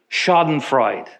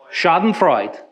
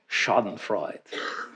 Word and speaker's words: Schadenfreude: word a great word correct my pronunciation schadenfreude schadenfreight one more time Freud and I'm not I'm not making fun it just means enjoying the suffering of others schadenfreude but Envy will want